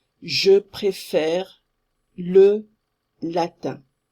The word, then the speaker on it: latin: Very often you are going to pronounce here tin, you are going to say Latin. It's Latin. And think about bench and bank. You say it's the same un. Latin. Think of bench, bank.